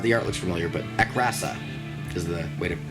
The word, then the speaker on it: Akrasa: Sorry, that's not a card that I've seen before, so, or maybe I have, the art looks familiar, but Akrasa is the way to pronounce that.